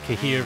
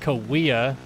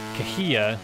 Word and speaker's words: Cahuilla: people call it uh kahia i called it kahir for years but uh it is actually pronounced kawia by the indian tribe or a native american